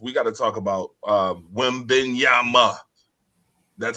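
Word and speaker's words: Wembanyama: But first and foremost, we got to talk about Wembenyama. That's how you pronounce it. Enunciate Wimbenyama.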